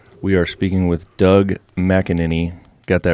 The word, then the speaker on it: McAneny: in the studio we are speaking with Doug mckinin got that right right that's right perfect it's not an easy one to pronounce no it's not so uh keeping on